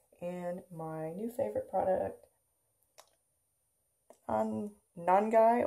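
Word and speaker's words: Nangai: my new favorite product, non-guy oil, I believe is how you say it, non-guy oil.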